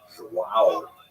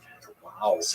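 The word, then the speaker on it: João: Melbourne for sending me notes on how to pronounce Wow Wow properly. I used to think it was hu like when the baby was born the mother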